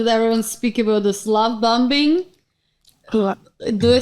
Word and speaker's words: love bombing: you call love bombing love bombing okay no don't make fun you don't pronounce the last B and bomb why do